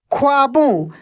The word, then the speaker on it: ख्वाबों: ख्वाबों क्या लिखा है ख्वाबों आधा ख वा और ब में ओ की मात्रा ऐसे देख सकते हैं